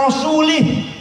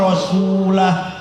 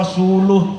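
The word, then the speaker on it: رسوله: Bacanya jangan wa rasulih. Innallaha bari'um minal musyrikina wa rasulah, atau wa rasuluh, terserah, asal jangan lih.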